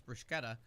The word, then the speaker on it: bruschetta: in that sentence and that's why it's bruschetta because there's a C in there and you don't not pronounce anything and if it's CC